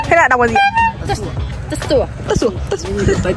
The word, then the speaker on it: Tà Xùa: Khoan khoan khoan khoan, tại sao cái chữ tà xùa này có chữ gì với lại chữ bờ này ạ? Cái đấy là chữ tiếng Mông này. À, thế là đọc là gì? Tà xùa.